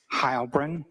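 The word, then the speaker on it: Heilbrun: My name is Hybrin. That's spelled.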